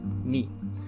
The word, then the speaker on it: 二: know how to pronounce them correctly if my pronunciation is a little off. So number 1 is ichi. Number 2 is ni.